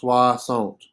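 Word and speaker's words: soixante: swasant swasant right remember anytime we see o i together it's pronounced wah so it is pronounced suasont it kind of rhymes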